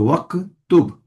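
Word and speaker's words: واكتب: So and because waw came, we're not pronouncing the alif here because this is hamzatul wasl, and the rule for hamzatul wasl is anything comes before, we do not pronounce it, right? So waqtub.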